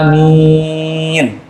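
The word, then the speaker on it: آمين: masyhur di kalangan ulama dibaca Amin a nya panjang mimnya panjang dan mimnya tanpa tasjid jadi takzim amin a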